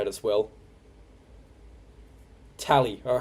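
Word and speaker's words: Tallai: Tally.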